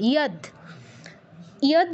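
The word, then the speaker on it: यद्: এর উচ্চারণ কেউ জ করব না, আর দয়ের নিচে হসন্ত আছে যেহেতু দয়ের পূর্ণ উচ্চারণ করব না। ইয়দ ব্যতীত আর কোনো কিছু আমরা উচ্চারণ করব না। যদ, যদ এগুলো কিছু বলবো না, মাথায় রাখবেন।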